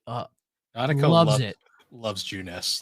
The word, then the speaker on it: Junes: Well, because then you get to the commercial for Junes, which Junes, it's spelled Junes, just June with an S, but it's pronounced Junes.